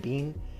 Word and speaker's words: Biehn: Played by Michael Biehn, I'm pretty sure that's how you pronounce his last name, Biehn.